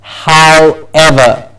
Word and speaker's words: however: know many different versions there's only one correct version of this and that is how ever because it's a bit of a tongue twister to move their lips a way to say hi and then to give it back to say ever so when you say